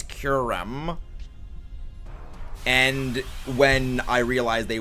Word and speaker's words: Kyurem: the the the M actually it's curum and when I realized